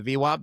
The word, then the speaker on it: VWAP: Yeah, volume weighted average price, otherwise known as the VWAP. That actually is how it's pronounced.